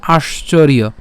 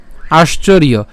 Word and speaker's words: আশ্চর্য: এবং এখানে যে অন্তস্থজ আছে, এই অন্তস্থজের উচ্চারণ কার মতো হবে, ইয়র মতো হবে, ঠিক আছে। এই অন্তস্থজের উচ্চারণ কার মতো, ইয়র মতো। তাহলে সম্পূর্ণটি যদি আমরা একসাথে উচ্চারণ করি তাহলে উচ্চারণটা হবে কেমন, আশ্চর্য, আশ্চর্য। এরপর হচ্ছে বৎ, আশ্চর্যবৎ।